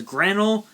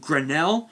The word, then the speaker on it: Granel: And for some reason people pronounce it as Granel and Skyle. For some reason they're pronounced Grenell, which is the earth